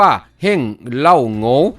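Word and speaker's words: 王老五: เหล่า อู่ วง เล็บ จีน แต้ จิ๋ว เรียก ออก เสียง ว่า เฮ้ง เล่า โหง เป็น คำ แสดง ที่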